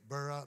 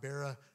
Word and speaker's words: Bera: the king of sodom his name in our in our chapter there verse two is bera b-e-r-a burra bara however you want to pronounce it b-e-r-a his name means son